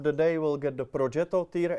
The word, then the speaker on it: Progetto: You actually said a decent pronunciation of Progetto. Let's Progetto. Progetto. Progetto. Progetto.